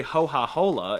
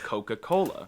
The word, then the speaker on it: Coca-Cola: Tuscan is the closest to modern standard Italian, but they inherited a glitch where they screw up the ka sound and say them as H's. So they say ho-ha-hola instead of Coca-Cola.